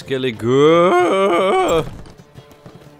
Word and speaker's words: Skellige: The good part shouldn't really be pronounced as much as you guys are saying, though. So it's Skellige. I see. Skellige.